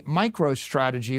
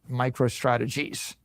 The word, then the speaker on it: MicroStrategy: Now, Now I name my company MicroStrategy. Let me tell you, for 30 years, half our customers mispronounced it, microstrategies.